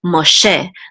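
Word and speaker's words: משה: last syllable so it's not ma che it's ma che that's the correct way to pronounce it in Hebrew ma che and ma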